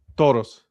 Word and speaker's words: Toros: Oh, by the way, how do you say that again? Tauros.